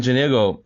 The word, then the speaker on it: Janego: This is another episode of the Real World Product Management, and I have Janego. Am I pronouncing your name right?